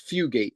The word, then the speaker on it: Fugate: Um he falls in love with Fu um Fugate and um keep saying I always want to say her name wrong, but it's Fugate.